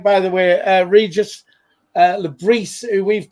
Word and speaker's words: Le Bris: A bit like, by the way, Regis Le Bris, who we've called Le Bris from day one,